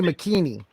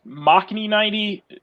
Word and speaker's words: Machni90: Because we all say McKeany. Fine. I'm used to it. Used to it, Jeff. Everybody else says. It's pronounced. I say it as Machni90 because Machni because it's basically my last name pronounced in Japanese.